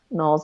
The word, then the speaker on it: Knowles: and then Noel's like Beyonce so I'm there you